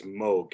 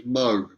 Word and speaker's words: Moog: Oh, by the way, do you say it a Moog or do you say it as Moog, you personally? I think that the correct pronunciation is Moog, and I've heard that from the horse's mouth, so I'm pretty sure Okay.